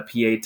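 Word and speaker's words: Pietà: His three biggest claims to fame, and you could make the argument, maybe there's more, the Sistine Chapel, the Pieta, that's how you pronounce that, and of course, the David.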